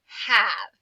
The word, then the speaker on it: have: just did have yeah it's got that mysterious silent e at the end which you know we would expect that with that e the a would say its name but it doesn't it uses the short sound like an apple instead of the long sound like an acorn have all right let's